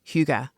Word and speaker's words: hygge: And they embrace huga. That's the right pronunciation.